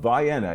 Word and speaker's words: Vienna: It is the town of Vienna. Yes, that's the way you pronounce it.